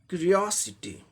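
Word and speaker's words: curiosity: होगा तो लास्ट से थर्ड सिलेबल पर स्ट्रेस मार्क आएगा। टी एक सिलेबल, स दूसरा सिलेबल, ओ तीसरा, यानी कि इस पर तीसरे ओ पर आएगा स्ट्रेस। इसे जोड़ देके बोलना है। तो इसका उच्चारण कैसे करेंगे। क्यूरियोसिटी, क्यूरियोसिटी, क्यूरियोसिटी, ये ब्रिटिश में हो गया।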